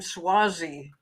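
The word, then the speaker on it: Suozzi: And everybody, thank you for letting me know that you pronounced that guy's name Swazi.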